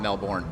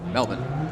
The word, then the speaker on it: Melbourne: Melbourne. The correct way I've been told how to pronounce it, not Melbourne, Melbourne.